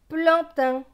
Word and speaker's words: plantain: PL c'est pleu avec le AN. AN c'est en. Pleu et en. Plan. T avec AIN. AIN c'est un. T et un. Teint. Donc ce mot va se lire plan, teint, plantain.